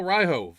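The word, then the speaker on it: Ryjov: Daniel Ryhove, R-Y-J-O-V. I think the J is silent, so I'm gonna say it's Ryhove. That's what it looks Yeah, like.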